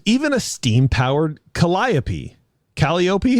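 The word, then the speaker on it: calliope: Caliop. How do you say that? It's Colliapy.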